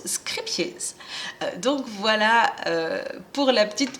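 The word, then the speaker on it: Scheepjes: l'info, si vous avez raté l'épisode, ça se prononce Scrippies.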